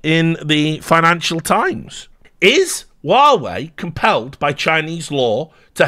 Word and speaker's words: Huawei: I'm super glad to tell you, I do know how to pronounce it. It's Huawei.